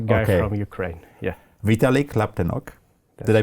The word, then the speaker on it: Laptenok: Vitalik Laptenok. Did I pronounce it correctly?